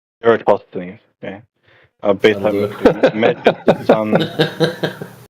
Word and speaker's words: Eratosthenes: Eratosthenes. Eratosthenes.